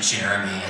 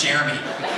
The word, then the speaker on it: Jeremy: I recognize me, but it's actually Jeremy. Just so you know, you're saying it right. He's like, no, it's like, Jeremy. I'm like, no, it's Jeremy. It's Jeremy. Say Jeremy.